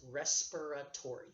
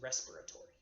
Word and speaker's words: respiratory: of that word respiratory it is respiratory if you pronounce it fully are ESP I are a t Oh r why a lot of people mispronounce that it's respiratory okay you need a